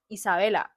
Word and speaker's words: Isa: But like personally, like me like my name is my nickname is Issa because of the way it's pronounced in Spanish. It's Isa.